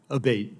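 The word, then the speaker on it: Abbate: to happen again yes ma'am ever uh Mr Abate and am I saying your name properly we've heard it pronounced three different ways today in the hearing aate Senator aate okay thank you um you had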